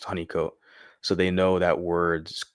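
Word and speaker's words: Holnicote: And so it's pronounced right here, honeycomat. I was, you know, tripping trying to pronounce it the way it's spelled, but it has right here pronounced honeycomat.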